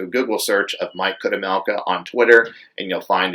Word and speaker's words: Chudomelka: It's Mike Kudemelka, which Kudemelka is spelled CHUDOMELKA, at Mike Kudemelka.